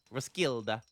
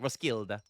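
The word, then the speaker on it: Roskilde: Ruskilda. I think that's how you say it. Ruskilda. I think you don't pronounce the L.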